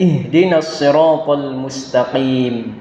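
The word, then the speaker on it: اهدنا الصراط المستقيم: Nah, ini ada huruf shad, yang mana shad ini pengucapannya kita pertengahan lidah kita ini diharapkan ada sedikit legokan, jadi pengucapannya tidak sama dengan sin, tapi dia ihdinas nas. Nah, itu jadi dia masuk ke dalam huruf shadnya tadi, dan ini ada keuntungannya,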